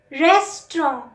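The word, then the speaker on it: restaurant: Number 12, रेस्टोरेंट. रेस्टोरेंट, एन में सिर्फ हम गले से आवाज़ निकालते हैं अंग की. टी साइलेंट होता है एंड वाला.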